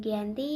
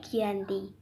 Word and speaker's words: Giyanti: tanggal 13 Februari 1755 untuk nama Gianni sendiri diambil dari lokasi penandatanganan perjanjian ini yaitu di Dukuh Janti di dalam pelafalan Belanda yaitu Giyanti yang sekarang telah berubah